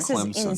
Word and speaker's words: Clemson: Clemson. Stop putting a P in the word.